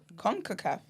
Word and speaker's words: CONCACAF: CONCACAF, as in conquer the emperors, Yeah, it's pronounced like that.